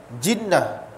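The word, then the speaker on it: جِنّة: Tapi bahasa Arab, ejaan masih sama, cuma tukar bunyi. Jannah, jinnah, junnah.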